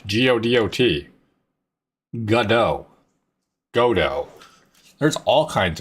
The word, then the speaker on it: Godot: Godot, focus F, zoomed out.